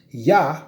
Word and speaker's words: Yah: a rebel and transgressive you gotta actually serve yah right right in the hebrew dialect right okay